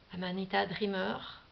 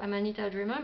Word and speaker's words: Amanita Dreamer: Amanita Dreamer, hein, prononcée à la française.